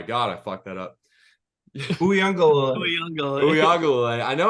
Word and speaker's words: Uiagalelei: DJ Uiagalelei. Oh my god, I fucked that up. Uiagalelei.